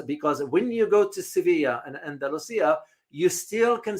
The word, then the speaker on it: Sevilla: In Spain, when you go to Spain, you pronounce the Spanish language, they call it Sevilla.